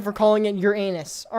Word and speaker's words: Uranus: accepted that it is preferable to stress on the first syllable when you say it rather than on the second one, and say Uranus rather than Uranus, although both pronunciations are